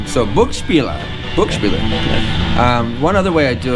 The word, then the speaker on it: Buch Spieler: So, I guess the first question is how do you pronounce the name of the store? Okay, yeah, common question, all right. So, "Book Speeler" One other way I do it instead of